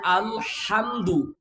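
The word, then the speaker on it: الحمد: সূরা ফাতিহা যখন আল্লাহু আকবার বলে হাতটা বাঁধার পরে যখন বলবেন আলহামদুলিল্লাহি রাব্বিল আলামিন, এখানে আলহামদু, আল বলেন বলেন, আল হামদু, হলকের মধ্যখান থেকে হায়ের উচ্চারণ হবে আল হামদু।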